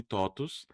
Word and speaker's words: TOTVS: vou poder perguntar por Totos se escreve com V e se lê com U?"